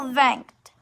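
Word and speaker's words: vingt: like vent vent rank like literal vent but it's pronounced vent i wish it was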